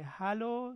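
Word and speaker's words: Hallo: په انګلیسي کې هلو ده، دلته هالو ده، دلته ای باندې دلته ا باندې ده.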